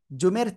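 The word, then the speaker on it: ظ: কোন জায়গা থেকে উচ্চারণ করব? জিহ্বার আগায় উপরে দুই দাঁতের আগায় লাগিয়ে মোটা আওয়াজে উচ্চারণ করব।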